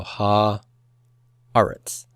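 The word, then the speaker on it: הָאָרֶץ: So eretz will then be written as aretz. Okay, so ha aretz. The accent is on that aleph.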